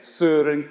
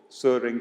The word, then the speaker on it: Søren: What the Danes say is Søren Kierkegaard, Søren Kierkegaard.